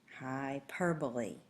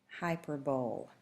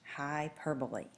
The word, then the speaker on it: hyperbole: Hyperbole is pronounced hyperbole. It is not hyperbole. It is pronounced hyperbole.